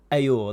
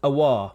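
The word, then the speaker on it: Aouar: It's not Ayor, that's in the past. Awar.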